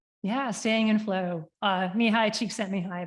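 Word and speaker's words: Csikszentmihalyi: staying in flow uh me hi cheek sent me high that's how I pronounce it don't ask me to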